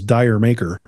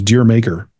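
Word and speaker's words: D'yer Mak'er: You'd read it as Dyer Maker. Right. Which is Deer Maker.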